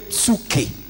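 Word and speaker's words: ψυχή: On dirait mieux psuke. Psu- On prononcerait ça comme ça.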